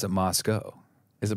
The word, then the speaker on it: Moscow: so you pronounce it Moscow is it Moscow it rhymes with Idaho Moscow Idaho there you